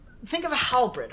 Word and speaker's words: halberd: Halbert. Halbert. I thought it was halberd. That's the Halberd. desk.